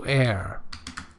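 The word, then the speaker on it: heir: money or property also air remember H is not pronounced yeah so uh good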